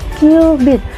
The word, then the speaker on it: cubit: Kejari terjauh kalian dinamakan 1q Beat ditulis satu cubit Tapi bacanya cubit bukan cubit-cubitan ya Nah dan sekitar 4.000